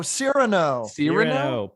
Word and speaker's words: Cyrano: Cyrano? Oh, Cyrano.